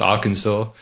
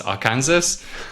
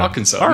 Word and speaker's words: Arkansas: Uh, I spoke to Abby at some point and, uh, famously mispronounced Arkansas as our Kansas.